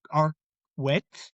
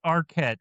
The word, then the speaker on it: Arquette: German names I pronounce in German. Okay. Then uh we have the second main protagonist uh Patricia Arwet playing Kristen Parker. Okay, we have Art. It's Arquette.